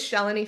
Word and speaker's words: Shalini: um my name is shelan the best way to remember my name um is that it rhymes with Melanie um so I have